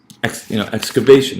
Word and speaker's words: excavation: So excavation. I'm kind of writing it as best I can. Excavation. X. That X, that's a secondary stress.